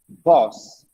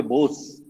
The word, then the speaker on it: boss: it's for you next boss don't say booze my boss my boss no boss horrible